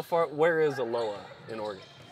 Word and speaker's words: Aloha: be great and you're from Oregon is it pronounced aloa yeah okay you're spell like Aloha but it's aloa right you're one of the first to get that right okay thank you uh how far where is aloa in Oregon it's just Southwest of Portland okay